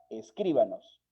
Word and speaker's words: escríbanos: información sobre el programa, escríbanos. Y escríbanos, por la posición de la sílaba tónica, es una palabra esdrújula. Como tal, debería llevar una tilde.